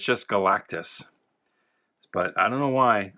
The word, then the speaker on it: Galactus: For some reason, as a kid, I always added a syllable. I always pronounced it Galacticus, but it's just Galactus.